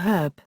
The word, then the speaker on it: herb: Unlike British English, American English typically uses an before herb, since the H in this word is silent for most Americans.